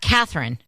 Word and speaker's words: Catherine: not Catherine it's Catherine it's three syllables it's not Catherine it's Catherine Catherine Catherine yes so but what and you were saying it wrong because I said it fast Catherine yeah it's not Catherine Catherine Catherine gotta say all the syllables Catherine right I see